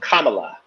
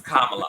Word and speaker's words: Kamala: I thought that is it her is it pronounced Kamala or Kamala it's Kamala okay all right I just wanted to black people call her Cala it's Kamala okay right and so it's Kamala because her